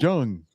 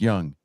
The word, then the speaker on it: Jung: __ ] January just Jung no it's pronounced Young jungan have you seen